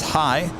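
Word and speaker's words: hej: in Northern Sweden Peg hello pronounces hi one of the easy words in Swedish yeah hi just spelled differently yeah well that makes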